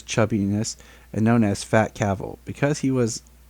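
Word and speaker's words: Cavill: His last name is Cavil, pronounced like travel.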